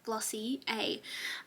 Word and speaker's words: Glossier: I just want to, I did a training through my work on Glossier, and they said that it's pronounced Glossy A.